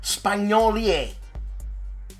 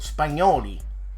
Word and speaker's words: Spagnoli: Vijaya Nagara, GMT Games, and an interview with Saverio Spagnoli. Well, Spagnoli, I should say. It's funny, that's the way it's spelled, eh?